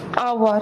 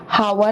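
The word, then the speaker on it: hour: okay, वैसे ही आवर, हम बोलते हैं आवर, 1 आवर, 2 आवर, आवर, तो यहाँ पे ये जो एच पहले तो साइलेंट ही है, आवर बोलते हैं हम लोग, हावर नहीं बोलते, आवर, ओ का साउंड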